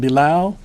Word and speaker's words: Bilal: ly in deal in last name bi Lal pronounced Bulow and I am the